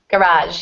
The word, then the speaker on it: garage: House's garage garage yeah garage yep the the stress falls on the second syllable in that one because we borrowed that word directly from French okay and my wallet